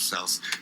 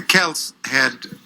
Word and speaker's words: Celts: is that before Rome, the Celts, as scholars tell me I should pronounce the word instead of Celts, the Celts were the ascendant people, numerically at least, Yes.